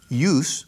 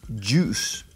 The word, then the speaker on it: juice: vas a un restaurante y dices use, eso es un error de pronunciación. Mucha gente dice use y es juice. Juice.